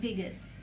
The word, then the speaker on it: vagus: that is called vagus nerve the veg nerve Vegas Yes I that's the perfect pronunciation so that nerve is totally related to